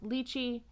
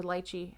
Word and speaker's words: lychee: are sour cherry brandy rose lychee or lychee however you pronounce it how you pronounce it because i've heard it both ways pink pepper and saffron